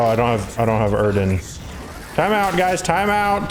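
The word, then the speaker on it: Yrden: and it lets he's i think it's actually pronounced erden that's what uh what's his name vezimir says but it's like once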